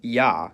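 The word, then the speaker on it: Я: It's called yah. And as its name suggests, in most cases it sounds like yah. However, when it comes after a soft consonant, which is a consonant pronounced with the tongue close to or touching the roof of the mouth, the y is dropped and it's pronounced as a.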